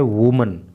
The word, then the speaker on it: women: लेकिन जब WOMEN हो जाता है तो ये बहुवचन बन जाता है, प्लूरल बन जाता है और इसका प्रोनाउंसिएशन हो जाता है वीमन।